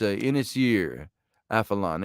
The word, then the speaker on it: Ynys Afalon: It was Ynys Afalon. It's Ynys Afalon. If I'm pronouncing the Gaelic right there, or that's actually the ancient Britain, but Ynys, Y-N-Y-S for island, Y-R of, I suppose, or a close facsimile of it, and A-F-A-L-O-N, Afalon.